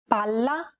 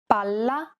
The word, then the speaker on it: palla: Imagine that you're holding that consonant sound for one extra syllable. Palla, palla. Many learners do not hold the sound for long enough, so when in doubt, pronounce it a little longer than you would normally.